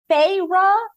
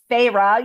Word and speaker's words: Feyre: Feyre, Feyre. They have to tell you how to pronounce it.